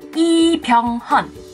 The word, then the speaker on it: Lee Byung-hun: Dari marganya bukan Lee tapi I. Bukan Byung tapi Byung. Bukan Hun tapi Hon. Jadinya Lee Byung-hun.